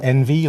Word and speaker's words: NV3: nv3 and and they they pronounce it Envy like you're envious of other cameras it's like you'll be